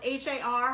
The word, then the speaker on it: har: shrimp in Chinese is spelled H-A-R, har, ha-ha, like har gao. The shrimp dumplings, ha ha ha, har gao. Sounds like laughter.